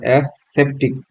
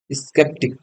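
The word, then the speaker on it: skeptic: উচ্চারণ এস সেপটিক। এটা হচ্ছে এস সেপটিক। এসপটিক নাকি? স্কেপটিক। স্কেপটিক। স্কেপ স্কেপটিক এর অর্থ কি?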